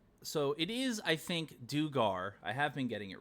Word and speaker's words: Dugar: Imagine if it's Duggar, and I've just been saying it wrong this entire time.